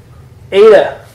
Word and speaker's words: Eta: It's a long E sound. A, as in obey. Like it's our normal A. Eta. Yeah, it's your normal A.